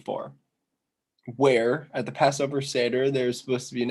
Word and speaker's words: seder: so question six and the passover seder i just was told that's how you pronounce that so i apologize the passover seder there's